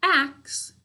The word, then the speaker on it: axe: are ah all right but we have a silent final e it's our job six